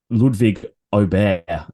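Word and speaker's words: Ludwig Åberg: touch briefly on um Ludwig obey I believe is now the correct pronunciation uh he he clarified that across the weekend so it's oh there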